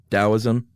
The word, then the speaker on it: Taoism: Sue who founded is do we say it with a d taoism yeah okay that's what I thought even though it's spelled with a t uh and his whole